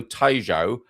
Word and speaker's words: Tejo: The restaurant Osado, or Osad, had, because I was talking about the River Tejo, Rio Tejo, not Rio Tejo, but Tejo. It's almost like obrigado.